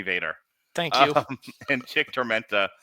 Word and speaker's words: Vaquer: Stephanie Vaquer and Lola Vice defeated... Excuse me, say her name correctly. Oh, Stephanie Vader.